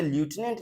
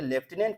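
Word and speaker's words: lieutenant: next यहां पे है लटिनेंट लिखा गया ये वेरी वेरी इंपॉर्टेंट ये लेफ्टिनेंट पढ़ते हैं माय फ्रेंड ओके लेफ्टिनेंट का स्पेलिंग फोकस कीजिएगा ये लटिनेंट लिखा गया है लेकिन लेफ्टिनेंट पढ़ते हैं तो लेफ्टिनेंट जनरल राजीव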